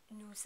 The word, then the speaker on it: nous: little tricky too because you have to remember to pronounce the S on the end of nous. We pronounce the S here even though we usually don't because it is followed directly by the vowel sound that begins the word avant.